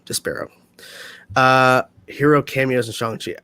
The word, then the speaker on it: Despero: oh probably not great despairo that's how you pronounce it des pyro despero uh hero cameos and